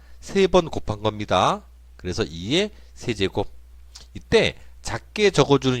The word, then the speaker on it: 세제곱: 2의 세제곱, 2의 3제곱 아니고요. 2의 세제곱이에요. 2를 몇 번 곱했습니까? 3번 곱했죠? 그래서 세제곱이에요. 2를 3번 곱한 거 아닙니다. 3번 곱한 겁니다. 그래서 2의 세제곱.